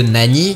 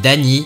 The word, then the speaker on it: Nani: celui avec Broly où le Nani de Vegeta avait été prononcé Dani qui signifie TIC en japonais ce passage qui est